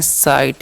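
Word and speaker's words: sight: उसी प्रकार से इसे हम लोग पढ़ते हैं साइट यहां पर भी जी साइलेंट होता है और आर राई और जी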